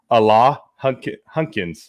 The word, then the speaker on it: Alain Hunkins: We've been practicing how to pronounce his name properly before. Alain Hunkins.